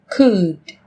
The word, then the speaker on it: could: yellow, Một số từ sau đây sẽ có chữ cái L trong cách viết nhưng chúng ta không cần phát âm.